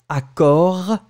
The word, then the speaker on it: accord: And then after that, it's accord. You finish on the r. Accord. And the last one, it's parole.